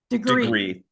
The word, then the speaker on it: deGriu: and I hope I don't say this middle part wrong, but deGriu? Close. How do you tell me how you say it? deGriu.